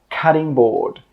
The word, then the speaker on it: cutting board: I know it's spelt with a T but when we pronounce it, we actually use a D sound. Cudding board.